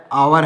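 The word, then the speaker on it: hour: जैसे honest owner है आवर है सॉरी आवर ऑनर है तो इसमें एच साइलेंट है क्या साइलेंट है दोस्तों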